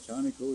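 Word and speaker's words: Czarnikow: It don't sound like it when I spell it. I said, Shawnico, yeah. C-Z-A-R-N-I-K-O-W. Does that spell sound like Shawnico? No. What was that again? C-Z-A-R-N-I-K-O-W. If that spells Shawnico, I don't know how.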